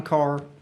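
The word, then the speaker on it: Ker: And thank you, chairman, for pronouncing my last name correctly because it's spelled K E R.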